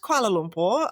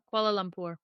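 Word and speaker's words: Kuala Lumpur: I loved Koala Lumpur.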